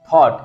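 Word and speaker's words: thought: अब देखो यहाँ पे आई के यू के जीएच कहीं पर आता है तो उसको क्या करते हैं? साइलेंट करते हैं, थॉट।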